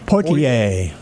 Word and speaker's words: Poitier: Sidney, and how do you pronounce that last name? Poitier.